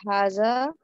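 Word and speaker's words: هذا: अब ये पढ़िए, हाजा इज प्रोनाउंस्ड हाजा, बट इट is written without the first अलिफ।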